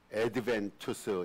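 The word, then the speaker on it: adventus: 그 애ent라고 말하는데 오다라는 뜻의 라틴어인 애드벤투스 제가 그냥 발음나는 거 라틴어 발음 그대로 지금 읽었습니다. 어드벤투스에서 유리했으며이 대림절의 기간이 4주 동안입니다.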